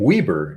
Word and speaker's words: Weber: i see i say weber because there's a street in kitchener ontario where i'm from named weber it's spelled like you spell your name but we always pronounce it weber all kitchen rights france